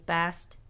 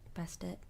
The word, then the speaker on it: Bastet: My favorite Egyptian god is Bastet. Bastet? Bastet. It's pronounced either way.